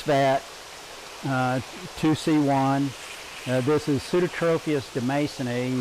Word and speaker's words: demasoni: You'll note that I pronounce that terminal I in the species name as a long E. That's because in Latin, a single I is long E. Now, if you have 2 I's in a row, it's pronounced EI, just a quirk of the language.